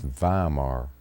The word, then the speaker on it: Weimar: it said baimar germany we pronounce it i think like weimar it's weimar germany and that's where i